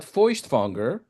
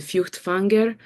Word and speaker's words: Feuchtwanger: or immigrated to the United States, when they start talking about Feuchtwanger to their, American Jewish counterparts, to Israeli Jews, and the response is, who?